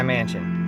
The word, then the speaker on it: Manchin: mansion is the hashtag buy mansion like buying a big house but spell it mansion by mansion m-a-n-c-h-i-n by a mansion he's